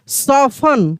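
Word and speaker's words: soften: एस ओ एफ टी ई एन सफन क्या पढ़ेंगे सफन यहां पर देखिए ओ एफ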